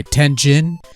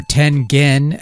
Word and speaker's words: Tengen: Tetris, the Soviet mind game released in 1988 for the Nintendo Entertainment System by Tenzin, or Tengen as it's supposed to be pronounced, or so I'm told, but I'm not going